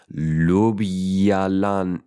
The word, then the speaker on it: Ljubljana: J is Y. Ljubljana.